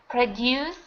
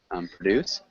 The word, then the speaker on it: produce: So this word has two pronunciations. So like you said, produce, which is the verb. And then we also have produce, which is the noun.